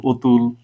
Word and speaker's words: অতুল: দ্বিতীয় বর্ণে পরেরটাতে দেখো অতুল এটার উচ্চারণ কিন্তু আমরা অতুল বলি না বলি কি আমরা এটাকে বলি অতুল ও এর মত উচ্চারণ করি পরেরটাতে দেখো অধীর অধীর